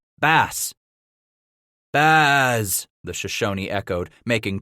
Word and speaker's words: Bass: Titus. Bez. No. Scratch corrected. Ba. Ba. Bass.